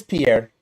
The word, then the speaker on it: Pierre: and well it says Pierre and anybody not from South Dakota would call it Pierre but we're from South Dakota so we call it Pier so you're not from